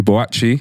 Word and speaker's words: Boakye: council estate confidence podcast bocce yeah said i say it right you said it right man what's in man